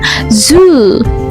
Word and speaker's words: zoo: Nah, tahunya ini dia dibaca dua. Apakah karena O-nya dua? Tidak, ya. Kita lihat di sini. Oh, ternyata ada titik duanya. Berarti dia dibaca dua ketukan. Zoo, gitu ya.